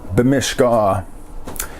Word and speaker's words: bimishkaa: So if I want to say I want to go boating, I would say bimishkaa, depending on your dialect and how you pronounce it. Emphasis changes around on those little vowels.